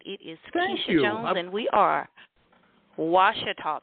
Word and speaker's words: Keshea: And Keshea, help me pronounce your first name. Hello. You said it exactly right. It is Keshea Jones, and we are Washita Parish.